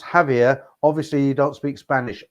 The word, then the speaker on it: Javier: Javier is pronounced Javier.